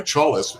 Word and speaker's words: Chalis: I think he Wallace had pitched or sorry, Chalis, it rhymes with Wallace. That's how I remember it.